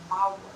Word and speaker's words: Mawt: So now we're going to talk about death, and the word for death is Mawt, M-A-W-T, Mawt.